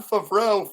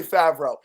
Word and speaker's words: Favreau: Dude, Jon Favreau fucking yes, I'm pronouncing it like an asshole on purpose. Is that how it's pronounced? Maybe. No, it's definitely Favreau.